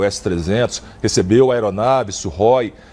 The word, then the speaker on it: Sukhoi: Bom, primeiro eu quero elogiar a sua pronúncia, né? Você falou Sukhoi, né? Sukhoi.